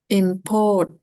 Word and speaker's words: import: Import. Ah, bukan. Yang ditekan yang di sini. Syllable pertama.